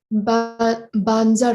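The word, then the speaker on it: Vajra: or is it Bazar Guru? I'm wondering if I'm saying it right. Banzar Guru. Banzar Guru.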